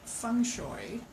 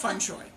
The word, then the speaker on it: feng shui: but my teacher said Fung shooey so I always say to my my clients or guests or whatever think bok choy that's fun joy yeah so that's pronunciation